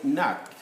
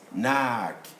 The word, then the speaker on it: knock: The rule says any K standing in front of N should be a silent K, like you say, knock. And so, Americans, knock.